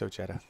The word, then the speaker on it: Ojeda: It's Ojeda.